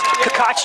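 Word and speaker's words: Cacace: his name is spelled caca c-a-c-a-c-e and it's pronounced kakachi yeah i had to ask i don't want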